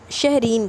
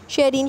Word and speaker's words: शहरीन: Thank you Shareen शहजा शहरीन sorry sorry for गलत pronunciation. शहरीन nice happy.